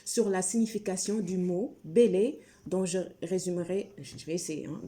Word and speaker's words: Bèlè: vais y arriver, sur la signification du mot Bélé, dont je vais essayer hein, de résumer ses origines.